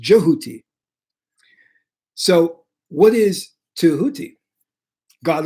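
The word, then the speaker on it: Djehuti: So when we say Tao, we are really saying Tehuti or Jehuti. Sorry, it's pronounced Jehuti.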